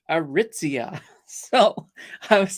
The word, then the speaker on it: Aritzia: actually sent me a voice recording saying it's pronounced aritzia so I was like oh oh now I